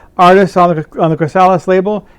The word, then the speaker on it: Chrysalis: uh just uh artists on the on the chrysalis label it's how you pronounce it chrysalis anyways uh it's got um